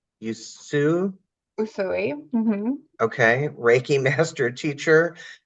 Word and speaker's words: Usui: Dawn's diverse background includes, I'm going to mispronounce this, Dawn, Usui? Usui.